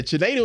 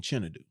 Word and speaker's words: Chinedu: Chinedu is how you pronounce it in Nigeria like born and raised or also here but I grew up saying Chinadu.